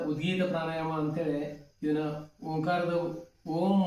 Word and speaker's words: ಓಂ: ಪ್ರಾಣಾಯಾಮ ಅಂತಹೇಳಿ ಇದನ್ನ ಓಂಕಾರದ ಓಂ ಮತ್ತು ಓ ಮತ್ತು ಮ ಎರಡುದರ ಉಚ್ಚಾರಣೆ ಮಾಡಬೇಕು ಯಾವತರ ಅಂದ್ರೆ ಉಸಿರು ತಗೋಬೇಕು ಬಿಡಬೇಕಾದರೆ ಓಂ ಈತರ 75% ಓಂ ಅನ್ಬೇಕು 25% ಮ ಅನ್ಬೇಕು ಈತರ ಮಾಡ್ಕೊಳ್ಳೋದ್ರಿಂದ ನಿಮಗೆ ಸ್ಟ್ರೆಸ್